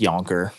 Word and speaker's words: Yankauer: the Yankauer probe on the front, catheter, Yankauer Yeah. catheter, Yeah, I've heard it pronounced Yonker, Yonker. but Yankauer, Yonker. Well, it's I made sure